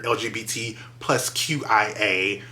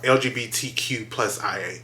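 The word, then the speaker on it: LGBTQIA+: with other gays another lgbt plus qia all that okay i know i said that wrong lgbtq plus ia that's how you say it um and so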